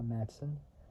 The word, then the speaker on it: Matson: wolf played by Sha Matson his last name is spelled mad DS o n so it's like Matt and Son connected together so sha Matson however the racers were rambush